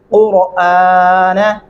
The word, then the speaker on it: القرآن: نون زبر نہ قرآن، یہ را کے اوپر کھڑی زبر لگا دیتے ہیں، جو کہ بالکل قطعاً غلط ہے، سراسر غلط ہے۔ اب اس کو کیسے پڑھنا ہے؟ قاف پیش را اور الف کھڑی زبر آ، نون زبر نہ قرآن ترتیلا، او زد علیہ ورتل